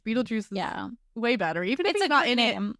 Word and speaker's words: Beetlejuice: German version yeah yeah so it is still pronounced Beetle Juice but they decided to have the name be spelled like fanatically like Beetle Juice so people didn't get confused and called it like Beetle guys Beetle which I think in the movie um